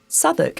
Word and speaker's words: Southwark: tip for you non-english sudok is not spelled remotely as it's pronounced drop the W when you say it or check the notes